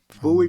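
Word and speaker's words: Bowie: know your your father's from Marland right from Buoy Maryland absolutely buoy okay that's what it's how it's pronounced uh and have you gone back there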